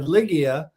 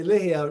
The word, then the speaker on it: Ligia: And I said, Ligia. And she's like, honey, no, that's not how you pronounce it. No. That's not how you pronounce it. So I'm really working hard to say Ligia and say it correctly.